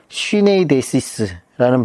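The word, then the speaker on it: συνείδησις: 거짓이 없는 믿음이 나오는데 여기에이 양심이라는 말은 헬라어로 쉬네이데시스라는 발음을 쓰고 있는데이 말은 바울 사신에 19번 정도 나옵니다.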